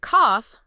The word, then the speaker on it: cough: But cough, the bodily function, even though it is spelled with a g h, actually ends in a harsh biting f sound.